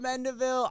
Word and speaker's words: Mendivil: too at home if you're not already bert mendeville i hope i pronounced your last name right no you did